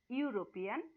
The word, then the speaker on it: European: the word you at though it begins with e the e is a vowel you know but the sound is like consonant so what you will